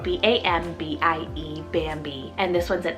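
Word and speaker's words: Bambie: fun one here guys i have bambi spelt b-a-m-b-i-e bambi and this one's an animal name but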